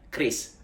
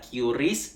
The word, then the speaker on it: QRIS: dan ada yang namanya Kris By the way bacanya kris bukan qris dan bukan qris nah QR Code sendiri